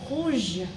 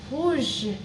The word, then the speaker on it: rouge: So it is going to be pronounced as rapid, rapid, rapid, rapid. So the next word is red, which is rouge, rouge, rouge, which means red in English.